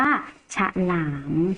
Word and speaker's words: ฉลาม: อาชะ ขอ รอ อา มอ หลาม อ่าน ว่า ฉลาม นะ คะ นี่ คือ ลักษณะ ของ อักษร สูง